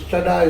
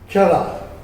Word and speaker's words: Chadha: Now I must tell you, this Chadha is not properly pronounced. The English people could not pronounce R. Our name is really by ancient time Chada.